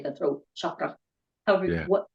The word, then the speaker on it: chakra: You know how you say the throat chakra?